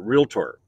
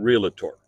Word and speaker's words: realtor: just to clarify things, you pronounce it realtor. It's like you don't go to see the docator, right? You know, so it's not realtor.